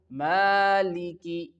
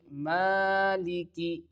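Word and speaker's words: مَالِكِ: And in the fourth here the ending of this letter this word maliki is with the simple and thin letter cough not with the thick letter of okay we can pronounce it maliki maliki.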